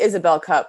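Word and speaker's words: Isobel Cup: really looking forward to chatting today it's actually isabelle cup but a lot of people call it call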